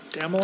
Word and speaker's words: Dammel: Mr. Dammel, am I pronouncing that correctly? That's correct, Senator.